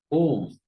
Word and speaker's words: Om: is the meaning of om we'll see in details see this entire world and the Brahma are held in this om the entire prti is in three syllables a u m om whereas the non cable